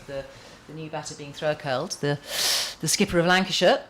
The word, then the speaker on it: Farrow-Kells: Have I Am I pronouncing that right, do you think? Farrow-Kells? Farrow-Kells, yes. Farrow as it's as it's spelt?